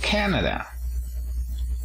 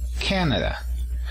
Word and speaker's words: Canada: Y Canadá decimos Canada. ¿El acento dónde se encuentra? En la primera sílaba. ¿Ok? Canada.